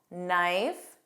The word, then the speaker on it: knife: The rule is that KN spelling has a silent K pronunciation.